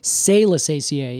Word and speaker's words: Salicaceae: Or Salicaceae, if you really prefer that pronunciation.